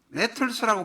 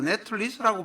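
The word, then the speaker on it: Nettles: 입원을 했는데 거기 간호사가 바로 이분의 파트너가, 종교적인 파트너가 된 사람인 보니 네틀스라고 발음하기도 하고 네틀리스라고 발음하기도 합니다. 네틀스라고 발음하겠습니다.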